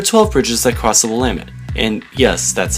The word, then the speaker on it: Willamette: There are 12 bridges that cross the Willamette, and yes, that's how you pronounce it.